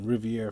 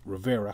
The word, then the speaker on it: Rivera: your best wishes to the Riviera family man or Rivera he's pronouncing the name wrong man but Talk That